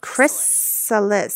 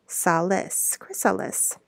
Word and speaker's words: chrysalis: And this is a, oh, look how that's spelled, chrysalis, C-H-R-Y, chrysalis. Chris, C-H-R-Y is chrysalis.